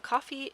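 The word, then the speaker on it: Ko-fi: get to work uh what is coffee so coffee is actually spelled like this and it's um it's basically a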